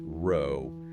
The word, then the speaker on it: Rho: Cappa Alpha Sai pronounced Sai, Sigma Gamma Row pronounced row.